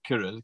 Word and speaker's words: Kirill: opinion well thank you so much could you pronounce and spell your name for us so my first name is kirill k-i-r-i-l it's a russian name don't ask ask